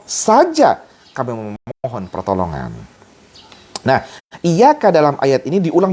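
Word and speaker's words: إِيَّاكَ: mengkhusyukkan diri ketika membaca iyyaka na'budu wa iyyaka nasta'in. Bukan berarti harus diputus ya. Iyyaka na'budu wa iyyaka nasta'in. Nah, ini bacanya juga benar ya, jangan iyyaka. Iyyaka, itu ya, ada tasydid.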